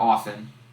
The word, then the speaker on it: often: don't play often or often you don't pronounce the T in often even though I always